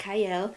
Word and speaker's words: Qiayel: welcome to Prime TV I'm your host cyle it starts with a q but it is pronounced cyle and today I have a wonderful guest with